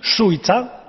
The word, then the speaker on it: Šuica: Is that the correct pronunciation? Šuica? Yes, you are right.